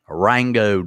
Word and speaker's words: Ringgold: Rusty, Scott, Rangode, Rob. That's right, Rangode. Ringgold is spelled Ranggoad. Rangode.